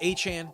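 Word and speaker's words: Etienne: Trevor has never come out in public saying you you've said my name wrong. Only Travis Achan has done that. So I will call Travis Achan Travis Aan. I will call Devon Achan Devon Achan. But I will call Trevor ETN.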